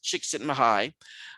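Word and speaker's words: Csikszentmihalyi: mihaly chiksi mihai uh that's a really tough name but you can pronounce it chick sitting high and he really focus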